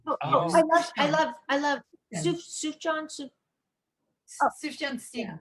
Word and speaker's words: Sufjan: Sufjan. Oh, Sufjan Stevens. It's not Sufjan. No, it's Wrong. Sufjan.